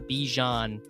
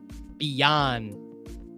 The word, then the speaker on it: Bijan: And I guess we're just gonna get wow, Bijan Robinson or Bijan. He said his name is pronounced differently. It's not Bijan. It's Bijan. Wow.